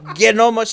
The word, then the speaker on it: gnome: Well, I guess gnome, like known.